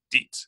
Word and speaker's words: Dietz: In it, you even showed me or told me how to pronounce Dietz.